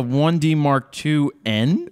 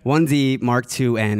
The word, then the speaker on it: 1D Mark IIN: 1D Mark IIN is, I guess, the proper way to say it, and a 1D Mark III.